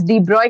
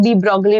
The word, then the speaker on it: de Broglie: अह NCERT में लिखा है कि हम उसको प्रोनाउन्स डिब्रॉय के तरीके से करते हैं। बट लोग डीब्रोगली पढ़ते हैं जिन्होंने एनसीईआरटी नहीं पढ़ी होती। तो, लैम्ब्डा डीबोगली नहीं डीब्रॉय = h / mv.